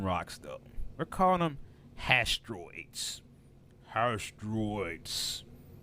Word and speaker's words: Hastroids: We're calling them hastroids. Hastroids. How do you spell that? Asteroids. Hastroids. So hash, H-A-S-H, and then troids, like droids, like androids, but with a T.